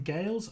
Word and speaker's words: Gaels: What does iron and how how do you pronounce it Dave? Iron Gales.